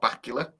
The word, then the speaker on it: Bakula: So I did it with Scott Bakula, and I know because he did an interview and he said, look, everyone says my name wrong, and it's Bakula like Dracula.